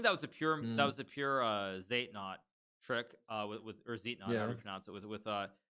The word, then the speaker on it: Zeitnot: funny thing is, yeah, Zeitnot, it comes from German, exactly. where it's like, I think it's pronounced like actually like side note, which literally means like time need.